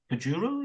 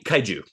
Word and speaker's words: Kaiju: and you'll have to help me with the pronunciation because the Japanese word for them is Kajuru. Is that right? Uh, Kai Kaiju.